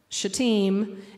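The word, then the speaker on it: Shittim: in places in the Old Testament right um shaim which I know it does not look like that's what it says but that's how you pronounce it shaim and gilgal is from The Book of Joshua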